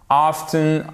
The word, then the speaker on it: often: Alors, pour le mot, souvent, vous pouvez ou pas, que ce soit en anglais américain ou en anglais britannique, prononcer le T, c'est comme vous voulez. Often, often, as you wish. Ça dépend vraiment de la personne, il n'y a pas de différence.